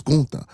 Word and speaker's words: Gunther: It's not Gunther. Y'all steady pronouncing the man name wrong. It's Gunther.